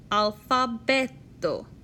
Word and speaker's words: alfabeto: In Esperanto, the emphasis of a word always falls on the next to last syllable. Alfabeto.